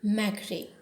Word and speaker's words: McRae: The pronunciation is Andrew McRae.